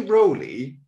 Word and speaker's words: Rowley: But let's say Rowley, because that's how I've heard it pronounced.